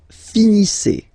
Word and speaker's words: finissez: Vous finissez. Vous finissez. Okay, EZ at the end gives you the sound E.